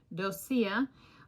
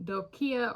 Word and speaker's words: doccia: C, it's gonna be Doccia, or a hard C, Doccia or Doccia. And then if it's pronounced like breccia, which is a type of rock in geology, it'd be like Doccia, breccia, Doccia.